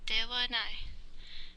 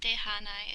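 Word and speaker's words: ではない: This hiragana right here, this is actually the ha hiragana, but you're supposed to pronounce it wa. So dewanai, not dehanai, it's dewanai. But you write it with a ha hiragana.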